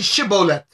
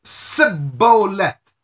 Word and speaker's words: Shibboleth: light of Jesus Christ the Ephrem eyes could not say she bolat what did they say when they open their mouth to pronounce the word it came out as CID bolete CID Bo let the h was missing now I'm gonna read